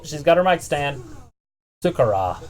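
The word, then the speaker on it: Sakura: Sukara. That's how you say it.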